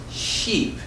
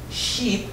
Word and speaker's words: sheep: good now let's try sheep sheep is a much longer sound just like the word me can you repeat sheep